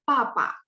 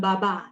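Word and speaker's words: 爸爸: Oh, ternyata kalau Hanyu Pinyin ketemu misalnya, nah, misal BA ya, papa. Kita bacanya bukan baba, tapi papa karena bacanya P.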